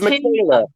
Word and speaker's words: Miquela: It's Michaela, but it's spelled Miquela.